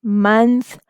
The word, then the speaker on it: month: We will learn about schwa in the upcoming videos, but here remember that in these words, O is not saying it's saying the complete U sound, short U sound.